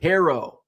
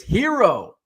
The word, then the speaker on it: Herro: Cleveland uh Brian says can you stop saying Tyler herrow it's hero you're the only only person who pronounces it like like that even if you're right